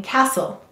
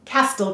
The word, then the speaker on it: castle: have a final ian castle that's right every syllable must have a vowel now i have a question try to say castle castel castle you'll notice that